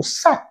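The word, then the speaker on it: 拿单: 那么关于拿单呢，有观众指出啊，根据音译啊，应该读善，这个字呢本来就是多音字，根据中文习惯啊，在姓氏上呢应该读善啊，这个隋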